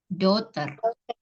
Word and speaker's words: daughter: my doctor birthday S bacanya bukan Dokter jadi GH nya itu nggak nggak jelas ya dia hanya itu nggak dibaca dotter ya artinya kepemilikannya ulang